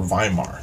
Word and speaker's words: Weimar: early 30s was the Weimar Republic, or Weimar. That's the way Germans pronounce it.